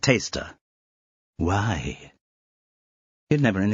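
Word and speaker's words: Tawcester: "I have never been so happy as being here at Tosista." She gave full weight to each of the place-name syllables. No, sorry," said Blotto. "It's pronounced taster."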